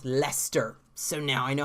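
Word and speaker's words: Leicester: the iourney spectrum and she told me that leister le i c EST yars pronounced Lester so now I know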